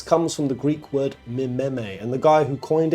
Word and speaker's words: meme: from the Greek word Meme and the guy who coined it he was looking for a monosyllable that sounded a bit like Gene so he was trying